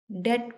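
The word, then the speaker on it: debt: यहाँ पे B silent है, डेट पढ़ा जाएगा।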